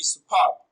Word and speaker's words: superb: Now option B, superb. Superb is a bisyllabic adjective and it is stressed on the second syllable as superb.